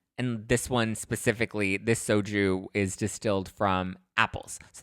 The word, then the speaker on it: Xoju: So over the weekend, I attended a fun launch party for this new soju brand, which is actually called soju, but it's spelled Xoju.